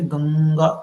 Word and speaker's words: गंगा: जैसे गंगा, अब आप इसको प्रोनाउंस करेंगे गंगा, तो मुंह से, आपके माउथ से कोई आवाज नहीं आएगी, बल्कि कहाँ से आएगी? नाक से आएगी, नोज से। देखिए, प्रोनाउंस कीजिए गंगा, तो आपका मुंह ब्लॉक हो जाएगा, है ना? माउथ जो है वो ऐसा ब्लॉक जैसा महसूस होगा, आपको फील होगा।